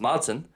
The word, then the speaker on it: maidin: I knew it was spelt Maidin, but I didn't know it was pronounced Madsen, and I've looked that up while I'm on Fuckler.ie.